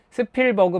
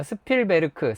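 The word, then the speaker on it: Spielberg: 발음 저거 맞나요? 웨스테리 히링 뭐 저저 스필버그 맞나요? 스필베르크 스피엘베르크 스피엘베르그 뭐가 맞나요?네 사실 다 맞습니다.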